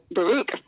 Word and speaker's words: Baruch: Baruch.